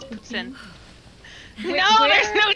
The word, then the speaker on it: poutine: How do you guys pronounce it? Poutine? Yeah. It's poutine.